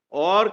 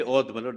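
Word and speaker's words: Awadh: a Governor's Province a why should we say OD britishers were unable to pronounce therefore they used to say OD it's a our Agra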